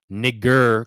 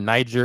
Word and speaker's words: Niger: North Africa, Horn of Africa, Niger, Congo. And yes, this word Niger is not spelled like that. It's actually Niger.